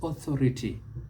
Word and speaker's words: authority: the word is mispronounced other words you must not mispronounce is authority not authority audio it is audio about audio august never august authentic augment let's take